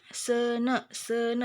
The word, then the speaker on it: seuneu: Seuneu bacanya tuh ya, kalau ada e sama u bacanya e.